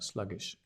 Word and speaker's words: sluggish: Stress on the slug. Sluggish.